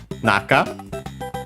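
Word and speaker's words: 中: After that we have the word naka should also be accented on the first syllable.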